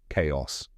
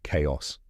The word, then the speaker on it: chaos: here's the correct pronunciation chaos let's break it down step by step the first part is K just like the letter K and the second part